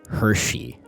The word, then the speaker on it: Hersey: the enigma that is Hersey. I say enigma because for... Criticism. Hershey. It's pronounced really weirdly, but that is the way it's pronounced on the train.